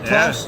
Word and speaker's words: Klaus: Klaus?